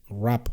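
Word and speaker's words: Wrapped: Hace poco, con esto del rap de Spotify, perdón por la pronunciación, pero es que claro, ¿cómo pronuncias W-R-A-P-P-E-D? Rap.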